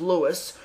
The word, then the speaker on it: Lois: I guess, even though there's an O in there, it's still pronounced Lewis.